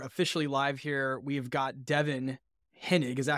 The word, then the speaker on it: Devon Hennig: right we are officially live here we've got Devin henig is that how you pronounce it Devon that's right should awesome I